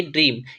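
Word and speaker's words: dream: ई ए एम ठीक है इस वर्ड का उच्चारण करते हैं तो इसे हम क्या पढ़ते हैं इसे हम पढ़ेंगे ड्रीम क्या पढ़ेंगे ड्रीम पढ़ते हैं ठीक है ड्रीम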